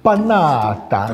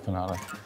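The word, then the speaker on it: Panatta: Pronounced Panada. What is it? It's Panada. Okay, so it's Panada.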